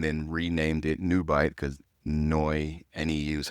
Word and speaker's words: Neu: And I had moved to Germany and then renamed it NeuBite because Neu, N-E-U is how you say new in Mhm.